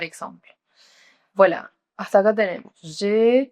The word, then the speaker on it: j'ai: Recuerden, ahí pronuncian E. Alors, vous allez dire j'ai 24 ans.